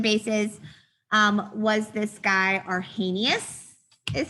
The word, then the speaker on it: Arrhenius: into acids and bases um was this guy arrhenius is how you say that okay and so